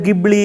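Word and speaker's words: Ghibli: ஒரு விஷயம் என்ன அப்படின்னா அதுதான் ஜிப்லி அப்படின்னு சொல்றாங்க அது உச்சரிப்பு சில பேர் கிப்லி அப்படின்றாங்க என்னது உங்க போட்டோவ நீங்க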